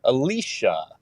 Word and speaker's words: Alitia: It's Alitia, and it's pronounced Alicia. The TIA makes a Well, he can't give you a hard time.